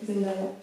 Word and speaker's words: Zendaya: Ouais, Zendaya. Comment on prononce?